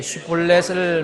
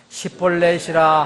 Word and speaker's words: 쉽볼렛: 아니라 하면 그들이 그에게 이제 슈볼렛을 말하보라 하여 그가 이미 그것을 발음하지 못함으로 시볼렛이라 하면 길앗 사람들이 곧 그를 붙잡아 요르단의 통로에서 죽였더라.